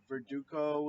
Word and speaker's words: Verdugo: Verdugo is Yeah, you said it right.